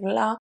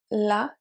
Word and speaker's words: là: It is different than the article la, the, and the pronoun la, her, even though they are pronounced the same way.